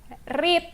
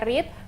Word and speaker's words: read: Read ini verb 1, 2, dan 3 tulisannya sama tapi bacanya beda. Verb 1 dibaca read, verb 2 dan verb 3 dibaca read, tapi tulisannya sama untuk verb 3-nya.